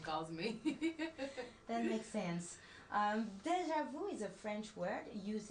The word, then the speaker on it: déjà vu: I'll let you guess how we pronounce it in French. Oh gosh, why are you doing this to me? Déjà vu. Almost. It's actually déjà vu. Déjà vu. Perfect.